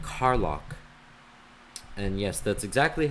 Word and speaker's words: Carlock: 1710 and another name Carlock and yes that's exactly how you would think it's spelled spelled CA RL Ock as in car lock like locking your car they fought in the